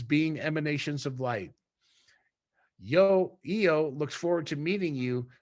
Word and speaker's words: Yo: designated by a number EO is is pronoun is uh is uh it's spelled y o but pronounced as y-e-o-h is about six feet